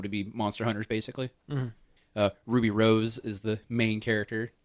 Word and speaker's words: RWBY: I caught up and watched all of Ruby, the Rooster Teeth animated series. Oh, okay. RWBY. I think it's pronounced Ruby. It is Yeah, pronounced it is. Ruby.